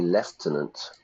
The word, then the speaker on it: lieutenant: Now, again, uh the American pronunciation of that would be left tenant.